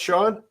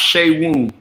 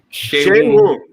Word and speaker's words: Seun: Is it pronounced Sean? No, it's pronounced Shea Woon. Shea Woon.